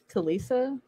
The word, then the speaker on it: Talisa: what is her name talisa oh yeah yeah yeah not talia not talia very disrespectful of me